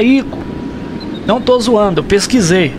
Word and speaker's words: Ico: Sim, a pronúncia é Ico.